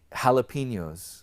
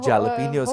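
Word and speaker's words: jalapeños: Just like हैलापिनोज, लोग जैलापिनोज कहते हैं, राइट?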